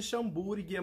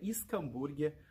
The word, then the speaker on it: Schomburgkia: E fazendo uma correção, muita gente chama de xambúrguia, muita gente chama de escambúrguia. O correto de se pronunciar é escambúrguia. Mas também, falando xambúrguia, gente, é a mesma coisa, tá?